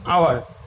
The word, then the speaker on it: hour: যেমন HOUR উচ্চারণ হচ্ছে আওয়ার, অর্থাৎ এইচ তার নিজের যে উচ্চারণ প্রনাউন্সিয়েশন সে কিন্তু হারিয়ে ফেলছে। আবার অনার, HONOUR, অনার, অনার